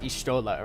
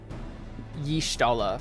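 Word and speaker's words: Y'shtola: I I was pronouncing like Okay, so's name is pronounced Ishtolaha, right? But I've been pronouncing it like yishtola for like the it's right, is how you pronounce.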